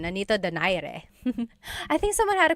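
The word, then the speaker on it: Nonito Donaire: So our first poll here is going to be Manny Pacquiao versus Nonito Daire or is in in the Tagalog uh pronunciation. Nanito Dire.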